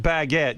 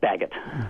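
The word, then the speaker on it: Baggett: Uh Bart Baguette, you say Baguette, right? Yes, Bagot.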